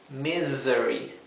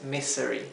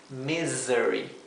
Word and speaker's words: misery: desgracia sí fíjense que la palabra misery la s no se pronuncia S como la s suave del español se pronuncia como la s zumbada Z esto es misery misery no es misery es misery así que